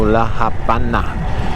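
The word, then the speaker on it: La Habana: not a v so laana and that's pronounced like a V but it's spelled as a B in Spanish you pronounce that like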